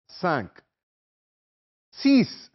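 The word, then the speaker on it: six: एन क्यू आ का स सी same S आई एक्स जिस प्रोनंसिएशन इ डिफरेंट तलफ अलहदा है फ्रांसीसी जुबान में सिक्स को सीस पढ़ते हैं जैसे सीन ये और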